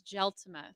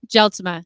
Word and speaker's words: Gelsma: last name though it's gel Toma jeltima Sarah here talk right on this microphone gelsma it's dutch it's dutch okay yeah there you